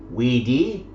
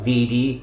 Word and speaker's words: Vidi: Okay, you can see that they show the classical pronunciation. Weni, Widi, Wiki, not Veni, Vidi, Vici, as would have been the later pronunciation.